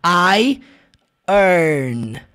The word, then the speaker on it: iron: Preste muita atenção porque não é iron. Você nunca vai pronunciar iron. Você vai pronunciar I earn.